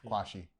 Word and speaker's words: Quarshie: Well, the only Ghanaian is Hugh Kwashi, but the rest of them are Nigerians. Kwashi. Don't pronounce the R. Yeah. Okay, Kwashi.